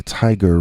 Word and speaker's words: Tyger: My friend and I used to live in towns on either side of the Tiger River in South Carolina. That's spelled Tyger, like the tiger in William Blake's famous poem.